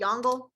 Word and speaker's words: Yongle: collect tribute so emperor yangla i know it's spelled yongle if you want to pronounce it that way to help you remember how to spell it's fine i'm pretty sure it's yongla uh he is going